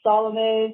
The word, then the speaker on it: Salome: Sure, the band name is Salomé Songbird, and the name Salome is like an old biblical name, but it was really popular like in the 1800s, and I was supposed to be named Salome as a baby, and my dad intervened and